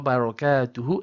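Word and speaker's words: بركاته: Now, a lot of people again, they omit this last ha.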